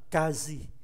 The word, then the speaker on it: quasi: Chúng ta có cái trạng từ Cặng từ này phát âm là kazi.